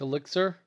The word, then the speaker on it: ELEX: Elix? Elix. How do you spell it? It's like EXEL or something like that. Like Elixir?